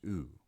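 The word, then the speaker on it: οὐ: go and means i smooth breathing plus diphthong that is pronounced oo is in hoot smooth breathing has no pronunciation value so this word is pronounced oo and means no next we have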